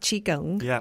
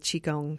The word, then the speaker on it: Qigong: word Qigong that's right am I even saying it correctly yet she gone I mean again I'm sure that classic Chinese speakers would tell us that maybe we can pronounce it much better than that but yeah for the purposes of us us Westerners Qigong is close enough and it's a it's